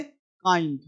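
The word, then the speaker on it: kind: है जी अब देखो यहां पे किंड नहीं बोलेंगे क्या बोलेंगे काइंड यह बोलेंगे बाइंड ठीक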